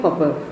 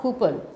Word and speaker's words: Cowper: The pronunciation is William Cowper, C-O-W-P-E-R. It's Cowper, not Cooper. Cooper is C-O-O-P-E-R, but it is C-O-W-P-E-R.